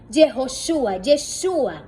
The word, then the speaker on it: Yeshua: Yeshua es la pronunciación, porque Josué, Yeshua es esa sombra de nuestro don Yeshua, porque es Josué quien introduce al pueblo a la tierra.